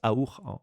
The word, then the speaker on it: AUR: candidat du parti aour je dis auur en français mais c'est je crois que l'on prononce aour en roumain et un certain nombre